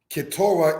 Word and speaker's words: Keturah: Keturah is said as Keturah.